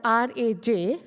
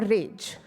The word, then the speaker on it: Raj: pronounce that Raj or rage but as I told earlier that in a we can say ah we have to give a stretched out version so the correct pronunciation is Raj if you can see